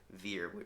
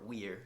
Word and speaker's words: vir: literally comes from the latin word veer or weir depending on your pronunciation which literally just means